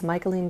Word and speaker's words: Michaeline: forgot to say before, it's Michaeline Doucleff. Some people think that I am pronouncing her first name incorrectly. I don't know what to tell you. That's how she pronounces it.